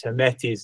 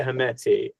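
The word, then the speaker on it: Hemedti: And Bashir would pronounce Hemeti's name in Arabic so that it sounded like my protection, right?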